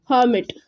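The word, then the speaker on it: hermit: हर्मिट, इसमें जो आर है वो हमेशा साइलेंट रहेगा, इसलिए हम इसको बोलेंगे हर्मिट.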